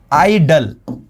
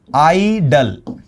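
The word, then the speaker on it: idle: इसका प्रोनाउंसिएशन देखो, आइडल, आइडल। लेकिन ये है आइडियल, ये क्या है? आइडियल, आइडियल।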